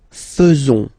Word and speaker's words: faisons: So it's quite strange because French people tend to pronounce faisons. Okay? So like here, this AE is not pronounced like normally we should pronounce it like E, but then like E.